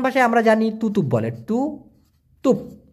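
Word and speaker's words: tutup: এখন বন্ধ মানে মালয়েশিয়ান ভাষায় আমরা জানি তুতুপ বলে, টু তুপ, উচ্চারণটা হচ্ছে তুতুপ।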